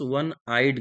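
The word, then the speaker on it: one-eyed: शी is dash dash वन आइड girl. वन आइड, इसका जब pronunciation करूंगा तो वह से हो रहा है।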